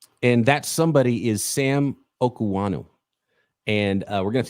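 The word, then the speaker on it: Okuayinonu: If you try to read it, it's not going to be correct for your brain. So Sam Okanu is how you pronounce it.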